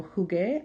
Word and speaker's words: jugué: So if it's in front of a U, though, it's pronounced with a hard sound, the G sound.